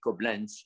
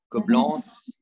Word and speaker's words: Coblence: It's not the German way, Coblence. It's Coblence.